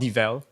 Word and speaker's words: devel: this bike it's U it's called devel like in development devel people say devil devil devil oh [